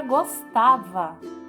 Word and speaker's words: gostava: E por último, a palavra gostava. Gostava tem a sílaba mais forte, o tá. Gostava, certo?